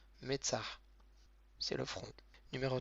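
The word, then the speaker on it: מצח: Numéro 2, Metzah. Donc on a le même avec un tséré en dessous. Donc le même prononciation du M. Le tséré, c'est le E accent grave.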